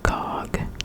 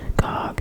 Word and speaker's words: Gog: Number 25, and I don't know, I think I'm supposed to pronounce this one, GOG, G-O-G, GOG, 1954, a Cold War sci-fi film.